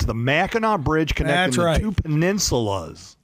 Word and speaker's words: Mackinac Bridge: They should definitely pronounce it the Mackinac Bridge, because that's how you pronounce it. It's definitely the Mackinac Bridge. Not Mackinac. Not Mackinac. It's the Mackinac Bridge connecting the two peninsulas.